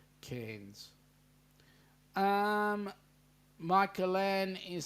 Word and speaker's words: Cairns: right not Karen um the AI is pronounced as in air the air you breathe cans um michelan is saying